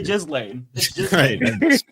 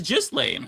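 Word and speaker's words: Ghislaine: It's spelled that way, but I think it's pronounced as Gain. Yeah. No. Okay. Go to one of the the um how to pronounce videos. It is just lane.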